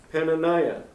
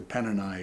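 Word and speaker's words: Peninnah: And the name of the other was Penaniah. Yeah. I I pronounced that incorrectly. Paniah, you're right.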